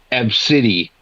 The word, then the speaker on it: Abcde: literally Inspector Gadget then we have ABCDE e oh God but it's pronounced AB City gonna run this F